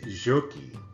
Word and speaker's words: Soque: Soque, Soquee, or Jokie is correctly pronounced. If you're Creek or if you're from Mexico, it's Jokie.